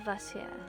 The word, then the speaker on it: Vacher: Vacher. Okay, that's how it's pronounced.